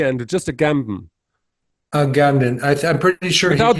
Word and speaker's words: Agamben: T without the T andw just a gamb a Gambon I I'm pretty sure without the D you're